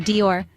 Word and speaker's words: Dior: it's not di or Dior the right pronunciation is Dior with a soft d and a stress on or finally we ended with